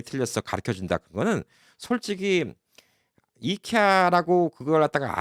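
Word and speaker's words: IKEA: 원어는 김치인데 다른 나라에서 기무치라고 발음한다고 그걸 맞는 거라고 다른 나라 가서 그거 갖다 네 발음이 틀렸어 가르쳐 준다 그거는 솔직히 이케아라고 그걸 갖다가 아이케아라고 가르쳐 준다 이거는 진짜 뭐 오히려 미국에 있는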